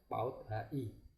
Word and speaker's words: PAUD HI: 60 tahun 2013 ya PAUD hi ya Ini bacanya PAUD Hi bukan Paudi ya pengembangan anak ia Dini